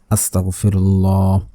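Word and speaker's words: أستغفر الله: আস্তাগফিরুল্লাহ আস্তাগফিরুল্লাহ। আস্তাগফিরুল্লাহ। অনেকে আছে আস্তাগফিরুল্লাহ। আস্তাগফিরুল্লাহ। আস্তাগফিরুল্লাহ পড়বেন না।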